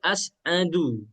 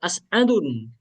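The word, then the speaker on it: أسعدُ: Selain kemudian tadi bilang tadi asadu bukan asadun.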